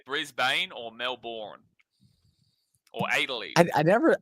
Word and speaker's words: Melbourne: but um it's yeah a lot of Americans will say Melbourne which is hilarious I